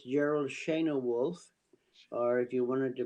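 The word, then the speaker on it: Schoenewolf: crazy ladies and gentlemen I give you Gerald Shan wolf hello hello thanks for having me on the show uh it's uh it's Gerald Shena wolf or if you wanted to pronounce it in the correct German way it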